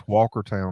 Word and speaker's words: Walkertown: live is called it's Walkertown North Carolina I was born you pronounce it Walker Town Walker Town Walker Town it was